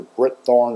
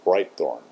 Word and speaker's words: Britethorn: of you are aware everybody mispronounces the name of my channel which is bright Thorn I hear Brit Thorn or Brit horn or bright horn lots of things like that but it's actually bright Thorn um so answer uh